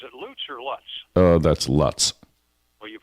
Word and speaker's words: Lutz: That's Lutz. Well, you pronounce it wrong because here it's Lutz.